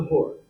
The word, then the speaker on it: Hora: The word Hora may rhyme with Torah, but its roots are